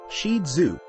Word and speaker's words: Shih Tzu: owners history and Origins the shetu pronounced shidu is an ancient toy